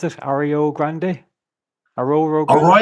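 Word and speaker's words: Arroyo Grande: And before that, we have a show coming up in how do you pronounce it? Ario Grande. Aro Grande. A Royal Grande.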